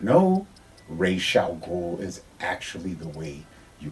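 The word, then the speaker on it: Ra's al Ghul: game figure from Arkham City now this is racial ghoul and do not get it twisted that is how you pronounce his name it is not Razz I'll go I do blame that on the Nolan Trilogy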